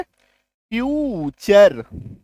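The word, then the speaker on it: future: टी के बाद देखो यू आर ई है फ्यूचर एन ए टी यू आर ई टी के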